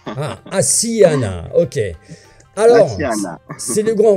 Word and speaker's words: Asiana: J'ai bien prononcé ou pas, Florent? C'est Asiana. On a deux S, on a une petite particularité. Ah, Asiana, ok.